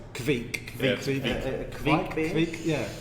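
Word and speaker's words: kveik: Andrew, you can pronounce this better. Well, I'm going to say it's Kvik.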